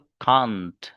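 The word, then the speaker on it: can't: तो ये जो लिखा हुआ है इसको पढ़ते हैं लोग कांट। क्या पढ़ते हैं? कांट। और इसका प्रोनाउंसिएशन एक किया जाता है जो लैस है एकदम, कैंट।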